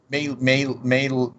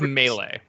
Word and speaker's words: melee: i pronounce wrong uh may may whatever says melee yeah okay melee yeah so i pronounced that